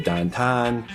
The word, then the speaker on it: downtown: So instead of saying downtown, you say Dantan.